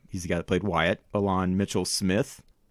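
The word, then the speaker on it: Ilan: course we mentioned and I'm not quite sure how to pronounce this guys first name I think it's a lawn it's it's IOA and he's got a plate Wyatt Alon Mitchell Smith it's an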